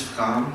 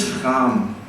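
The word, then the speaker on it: Frahm: I love listening to Niels Fram, who's think he's a piano player, but he's like an experimental DJ kind of, but he improvises on piano.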